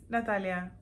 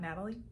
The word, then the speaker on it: Natalia: me my name is Natalia or I go by Nat um for those people who cannot pronounce my name correctly cuz my name is not Natalie so I go by